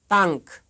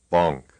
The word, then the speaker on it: Bank: Here is a word of the type that is often mispronounced by a speaker of English. You will first hear it right and then wrong. Bank, Bonk.